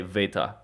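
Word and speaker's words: Βήτα: a it's an a beta looks like a b you'd think it would be a b it's not a b it's a v uh they say Veta is how they say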